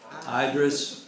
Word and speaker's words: Idris: Idris, okay, just like it's spelled, Idris Ownby.